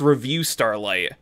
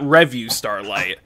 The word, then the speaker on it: Revue Starlight: starlight and it's amazing which is it's it's pronounced review starlight which I found out the hard way it's not review starlight even though the Spelling's weird anyway Rafi I